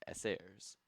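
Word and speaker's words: эсеры: The peasantry was best represented by the socialist revolutionaries which was often abbreviated to SRS which in Russian is pronounced sairs and the bourgeoisi was best represented by the constitutional democrats or cadetses.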